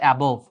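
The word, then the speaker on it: above: আর অ্যাবাভ হয়েছে কিভাবে জানো? অ্যাবাভ, অ্যাবাভ মানে উপরে, on plus by plus up, on plus by plus up, এই 3টা মিলে হয়েছে অ্যাবাভ। অনেকে বলে অ্যাবভ, উচ্চারণটা আসলে অ্যাবাভ।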